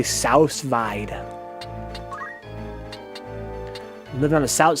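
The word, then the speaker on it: sous vide: So someone says he's pretty sure it's pronounced Sousvide. Sooviday. Sousvide.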